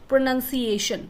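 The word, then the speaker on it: pronunciation: लेकिन जब हम प्रोनाउंसिएशन लिखते हैं तो इसमें ओ नहीं आता, तो आपको ध्यान रखना है, इट विल बी प्रोनाउंसिएशन नहीं होगा, right, it will be प्रोनाउंसिएशन, प्रोनाउंसिएशन, नंसिएशन.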